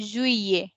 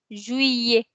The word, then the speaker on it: Juillet: So instead of saying Juliet or something else, we say Juillet. We don't pronounce the L as L. We pronounce it as year. Juillet.